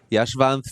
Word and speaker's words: Yashvanth: That's how I pronounce his name? Yeah. Yashvanth from Silence Laboratories.